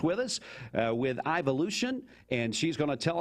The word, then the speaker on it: Ivolution: a little bit later and I think it's pronounced ivolution you're correct but uh tell me about the